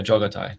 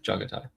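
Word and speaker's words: Jaghatai: Yeah, but the take is But I think it's Jagatai. Um, yeah, Jagatai. He's from Warhammer 40k. Let me just double check on the pronunciation. Jo. Yeah. Jatai. Jatai.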